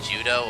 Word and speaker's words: Judeau: So, quick question: is his name actually Judo or is it Jude? It's Judo. Okay, It was June. I think it was Juno in the anime. Yeah, they spell it Differently. differently. It's Judeau, I think. So it's literally Judo.